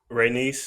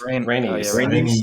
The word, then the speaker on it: Rhaenys: The queen that Rhaenys. Rhaenys.